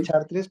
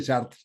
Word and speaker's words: Chartres: que lo pronunciamos bueno lo escribimos chartres en España decimos chartres pero se lee sh no es una cal los franceses dicen chartar Sí sí sí nosotros